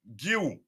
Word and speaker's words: Guiu: It is pronounced Guiu. Guiu.